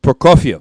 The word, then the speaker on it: Prokofiev: you're Russian Sergei what Sergei Brooke yeah Brook Prokofiev for coffee okay so now there's a sinister